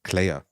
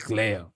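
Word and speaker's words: Kleya: Oh, he says like Clea. Her name is Clea with a K and then Y. Yeah. But yeah. So, but yeah, the way he pronounces. Right. Yeah. So the way he pronounces it is always sounds like Leia.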